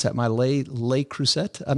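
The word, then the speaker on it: Le Creuset: Uh Pette uh who is our brilliant writer for this show says my how do you pronounce that? Lelay Lelay Cruset. I'm not familiar with that. Lelay Cruset.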